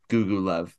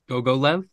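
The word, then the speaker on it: Gogolev: that's how you say Google love is that how you say Carter go go left go go left yeah I don't know how you pronounce It Go Go not Google left go go left Jack yeah that's why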